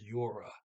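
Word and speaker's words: gjorde: pronounce uh did g-j-o-r-d-e yora the d is silent um okay and i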